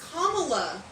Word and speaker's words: Kamala: run feel still don't it's Cala it's Kamala I said the last week you so anyway Cala you always say camela camela ha is that too the a is silent go but camea Harris